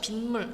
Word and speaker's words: 빗물: 자, 뒷말첫 소리 니은미음 앞에서 니은 소리가 덧나면 자 우리가 비물이라고 하는 일죠. 빗물 이렇게 있습니다. 빗물. 받침이 니은으로 나요.